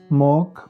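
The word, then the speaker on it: mock: और आगे सी क्यू के या के पहले आ जाए, सी के या सी क्यू, तो उनमें सी साइलेंट होता है। मॉक, अक्विट।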